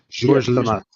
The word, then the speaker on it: Georges Lemaitre: Georges Lemaitre.